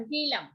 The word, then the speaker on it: hilum: ठीक है, spelling is HILUM, हीलम।